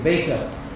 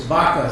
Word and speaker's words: Baca: couldn't pronounce my name he kept saying bake up and I said it's vaka so he kept asking